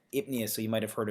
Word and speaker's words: apnea: It's spelled this kind of the same way, PN. You have that PN there, so it's that odd spelling. So it's actually apnea.